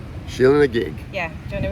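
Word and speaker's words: Sheela na gig: got very excited so that's pronounced sheila nag sheila and a gig yeah do you want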